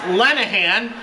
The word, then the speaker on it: Lenahan: It's actually pronounced Lenahan, but that's not in the game files.